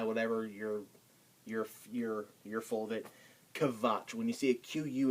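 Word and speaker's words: Quatsch: This word, quiz, it's pronounced kvitz or kviz because they take this word from us. Kvatsch is a kind of a slang-like terms, which means like kind of like bullshit or baloney.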